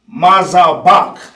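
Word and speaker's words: מזבח: Altar will be mazabak. Mazabak, all right? Mazabak. All right. Altar in English is mazabak.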